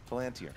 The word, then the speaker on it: Palantir: Palantir? Palantir. Peregrine took Pippin. 2 points. Yeah. I'm literally only here to correct his pronunciation.